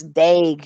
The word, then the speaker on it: Dag: It does actually, but the guy is, his name is not pronounced, Harry dog. It's Dag, you idiot.